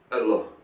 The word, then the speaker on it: Allah: the aramaic is allah but without emphasizing the el has this one l without a doubt allah it can also be pronounced allah the arabic word is allah the difference is mainly the the elongation of allah as opposed to allah you can find this